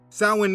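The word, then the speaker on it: Samhain: Sin means summer's end. Just Google sin, summer's end, and you will see the date each year. Now, the word doesn't look how it's pronounced.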